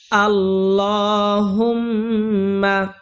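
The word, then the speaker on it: اللهم: আল্লাহুম্মা আল্লাহুম্মা এটা হল আল্লাহ তাআালার নাম। আল্লাহ তাআালার নামের ডাইনে যদি জবর অথবা পেশ থাকে তাহলে ল উচ্চারণ করতে হবে। আল্লাহ ল এখানে এক আলিফ টান দিতে হবে। কারণ লামের উপরে খারা জবর আছে। আল্লাহুম্মা হাদে মিম ধরতে হবে এবং ওয়াজিব গুন্না করতে হবে।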